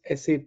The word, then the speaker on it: SAP: of sap uh first of all it is sap it is not sap or sap normally I've